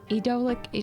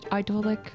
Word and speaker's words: Ydolic: right a trip to idolic idolic It's pronounced both ways it's an accent thing idolic I mean it's just